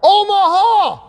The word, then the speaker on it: Omaha: It's kind of three syllable. It's rhythmic, right from the diaphragm. Omaha!